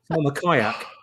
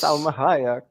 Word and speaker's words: Salma Hayek: So Elmer Sayak, if I can pronounce her name properly. Salma Kayak. That's Salma well. Hayek. Yes. Salma Hayek.